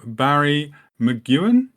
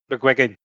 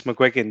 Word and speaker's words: McGuigan: And also joining us, we have Barry McGuan. Mcwigan.